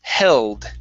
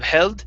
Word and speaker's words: held: Next is the word held. Okay, pronounce that L instead of held. Held. It's held. Held.